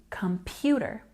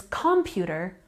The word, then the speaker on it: computer: understand them for example in the word computer the stress goes on the second syllable you can see it here in the phonetic transcription but we've also spelled it like this to make it a bit easier to visualize as well we have a stress on this part Pew computer if someone says computer we're probably not going to understand what that person means and in general words